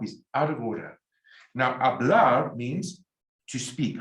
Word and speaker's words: hablar: Now, hablar means to speak. Remember, the H is silent.